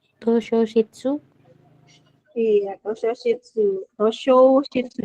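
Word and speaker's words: 図書室: Tosho Shitsu. Jadi, I sama Yo-nya bacanya Sho.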